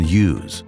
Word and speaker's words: Hughes: businessman John James Hughes the locals pronounced his name John Yu and named the city